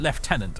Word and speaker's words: lieutenant: they got that right they pronounced it left tenant earlier when the dialogue was